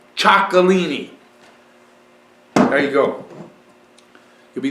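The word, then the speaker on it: Txakolina: cool to say it I also like to say chalini and and and I I'm repeating that because it's spelled TX a k o l i n a chalini there you go you'll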